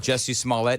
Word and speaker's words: Smollett: Because we could also, Well, yeah, Juicy Smollett. Smollett, yeah. Juicy Smollett. Do you remember, Johnny, when we were doing the bits on old Jesse Smollett, and I actually could not say his name the right way?